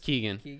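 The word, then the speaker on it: Keoghan: just key it's just keegan it's spelled differently because it comes from gaelic no i figured that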